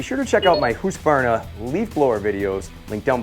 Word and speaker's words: Husqvarna: I pronounce it Husqvarna. It's Husqvarna. No, it's Husqvarna. Let's see what Google has to say. Husqvarna.